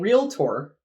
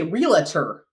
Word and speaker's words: realtor: We say realtor. Yeah, we add an extra A in there. A or some sort of vowel sound.